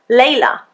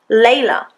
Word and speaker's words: Leila: Even my name contains a schwa. Leila, Leila.